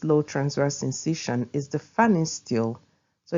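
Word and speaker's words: Pfannenstiel: transverse incision is the fanning steel so it's called fanny steel the p is silent so fan is still incision although you can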